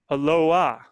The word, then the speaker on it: Aloha: Even though the name of this top listening town is spelled like the universal Hawaiian greeting, it is not pronounced the same by Oregon locals.